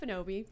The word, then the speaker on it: Ekpunobi: now I feel good the K is silent okay silent that's the tricky part who are you I am omelette bonobi 22 years old I'm